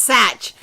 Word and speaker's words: Sach: And I also wanted to show you there's no H in. The H is in the Sach. And it is pronounced Sach.